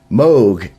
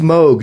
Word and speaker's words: Moog: that and it's pronounced Moog not moo he pronounces in there he says it rhymes with Vogue it doesn't sound like a cow going moo plus G it's Moog I always